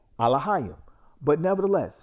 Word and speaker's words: Elohim: But contrary to that, our Alahayim, which many will say Elohim, but the paleo pronunciation of God is Alahayim.